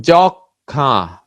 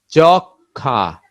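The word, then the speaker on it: যক্ষ্মা: স মফলা, দন্তস্ব মফলা, যুক্ত ব্যঞ্জনে মফলা যুক্ত হলে অনুচ্চারিত থাকে।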